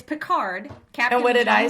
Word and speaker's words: Picard: well you put it you put a different emphasis on the words on the wrong side oh wait wait what did what is it it's it's picard captain what did i say picard you said pickard pickard